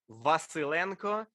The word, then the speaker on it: Vasylenko: your first name obviously um don't bother everyone mispronounces it say i'm vasylenko baster and but call me andre andrew nd